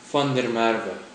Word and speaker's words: van der Merwe: to pronounce my serame which of course is fer Mara fer Mara is the most common